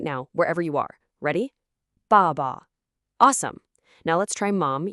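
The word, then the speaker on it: 爸爸: Dad isn't ba ba, it's ba ba. A strong fourth tone on the first syllable, and the second is like this quick, quiet whisper.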